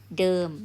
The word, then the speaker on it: เดิม: to walk เดิน okay if I change to the and then I change to m so this one pronoun เดิม mean same as before okay เดิม like ที่เดิม same place